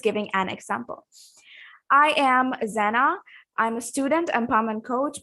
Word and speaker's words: Zenah: And the pronunciation is Zenah.